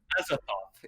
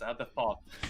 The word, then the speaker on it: Azathoth: Azathoth. It's like thought, but without the T. It's more of a T at the end. So Azathoth, but it's a Th. It's Azathoth.